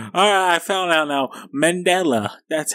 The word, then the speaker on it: Mandela: Mandela, that's how I pronounce it.